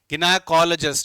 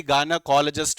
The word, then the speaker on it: gynaecologist: Vocabulary is गिनाकोलॉजिस्ट, या फिर कई गायनेकोलॉजिस्ट भी बोलते हैं। थोड़ा बहुत प्रोनाउंसिएशन के वेरिएंट्स आ जाते हैं, तो गिनाकोलॉजिस्ट भी आपको सुनने को मिल जाएगा एज पर दिस बुक, गिनाकोलॉजिस्ट।